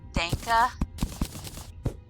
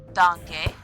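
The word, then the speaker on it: Danke: talking about because um he had said Danka and I was like that's not how you say it and we went through that and I was like it's donkey donkey not think dank is what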